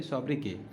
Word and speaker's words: sobriquet: उसमें दूसरा जो है वो है सॉब्रिक्वे, ठीक है, सॉरी सॉब्रिके, इसका प्रोनाउंसिएशन सॉब्रिके होता है, लेकिन स्पेलिंग क्या है, SOBRIQUET, सॉब्रिके, ठीक है।